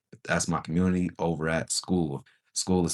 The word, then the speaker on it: Skool: That's my community over at School. School is spelled Skool.